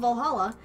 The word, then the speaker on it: VA-11 Hall-A: have fun okay Valhalla the name sounds silly and a bit hard to pronounce good thing it's actually called Valhalla the funny numbers and letters are just a code anyway I visited this cute